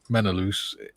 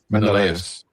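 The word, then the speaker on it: Menelaus: in the movie Troy calling one character Menaloo it's pronounced Menaus.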